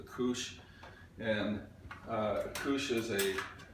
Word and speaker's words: couche: What you want to do, and this is what I found, you know, we're going to use what is, I think they pronounce it as a couche, and a couche is a linen cloth that you're going to use later.